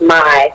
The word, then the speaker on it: MI: hair smooth and shine m.i but it's pronounced my and definitely um you